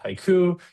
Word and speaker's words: HYCU: you're interacting with Haiku, you're probably thinking is it an acronym? How do I spell it? How does it sound? It's HYCU, it stands for Hybrid Cloud Uptime, um but of course uh we always like to mimic the simplicity of the Japanese poem structure as well.